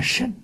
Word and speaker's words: 乘: 三乘者，乘就是彻。古音念圣，现在都念成了。我们就随俗，不随俗也听不懂了。